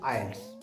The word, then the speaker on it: IELTS: So your answer is IELTS।